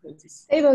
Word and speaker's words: Sabo: your name wrong again Sabo Sabo is right yeah okay I'm GNA